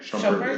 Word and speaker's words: Shumpert: Shumpert? Shumpert, Yeah.